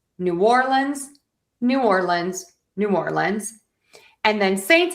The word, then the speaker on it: New Orleans: So, we have the New Orleans Saints or you can say New Orleans.